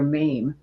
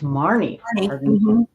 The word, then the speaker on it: Marne: Karen married Dwayne McFaden during the summer of 1964 and moved into an old farmhouse near Maine, Iowa. Is that how you pronounce that? Mary Oh, it's Marne, Iowa.